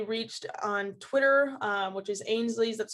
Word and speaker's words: Ainslie: So we'll kind of see what happens there, but I am always, able to be reached on Twitter, which is Ainslie's, that's spelled AINSLIE.